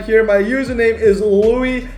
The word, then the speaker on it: Louis: My username is Louis #4. My name is spelled L-O-U-I-S, but everyone pronounces it as Louis, and I'm just like, no, it's Louis.